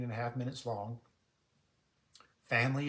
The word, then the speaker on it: FAM-LI: Family is spelled F-A-M-L-I, FAM-LI.